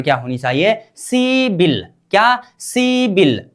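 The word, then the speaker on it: 십일: CIBIL. क्या? CIBIL.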